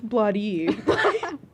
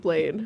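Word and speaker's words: Bladee: So I do want to say that I used to mispronounce Blade a lot. I would always be like, that's Bloody. That says Bloody. And then one day I said it like that to Val and Noah, and they were like, wait. Who? No, but it's pronounced Blade.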